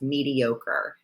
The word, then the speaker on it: mediocre: The pronunciation is a little weird for some people based on the spelling, but it's pronounced mediocre.